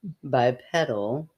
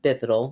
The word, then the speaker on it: bipedal: It was bipedal. Yes. But we mispronounced it and said bipedal. Bipedal.